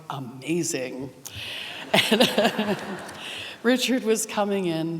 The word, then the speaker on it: Wagamese: my best Italian Richard wagamese and he corrected me saying it's not wagamese it's amazing and Richard was coming